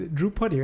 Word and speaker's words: Drewpuddy: which I always remember him by which is droupati right yes I pronounced it right but you are an gibran